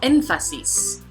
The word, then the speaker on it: énfasis: Let's start out with las palabras esdrújulas, como énfasis. So this word has 3 syllables. The prosodic accent falls on the first, which is technically the third to the last.